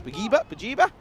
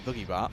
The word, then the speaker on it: Bajiba: Bajiba Blasters, of course. Bajiba. Not the Boogie Bar, although I would love, I would love to pronounce it as Boogie Bar because I think that's class.